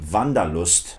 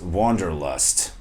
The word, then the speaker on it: Wanderlust: sounds in German, because in German we'd say Wanderlust, but in English it's Wanderlust.